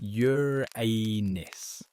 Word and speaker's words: Uranus: Yes, it's pronounced Yuranus.